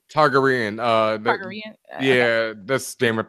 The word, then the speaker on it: Targaryen: Targa-Uren theorem. Inspired by the Pythagorean theorem, so I'm probably saying it wrong. Targaryen.